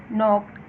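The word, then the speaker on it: knocked: नॉक्ड, अब यहाँ पे के साइलेंट है, एन से एन की साउंड से स्टार्ट हो रहा है, तो यहाँ के पे अंडरलाइन करेंगे।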